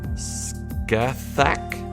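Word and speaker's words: Scáthach: the witch um oh i think i knew at one point how to pronounce this but i recognize it scathach i want to say and he trained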